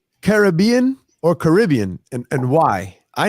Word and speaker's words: Caribbean: was telling me it's it's Caribbean officially pronunciation wise because of the carob Indians is really where that region got its name from the Carib Indians I guess the the